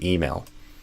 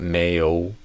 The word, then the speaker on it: email: So instead of a male, I would do email. So I would stress the E and I would not do a I sound. I would do a E. So email. And then I do a dark L at the end. Mail. Not mayo, but mail. Mail.